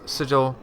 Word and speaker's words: sigil: for my whole life I pronounced this sigil and Sigel just sounds so weird so sigil it is uh he knows to